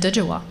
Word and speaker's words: Djwa: Emma's name is spelled DJWA, so it can be a little challenging for people, I guess. It's usually said Dijawa.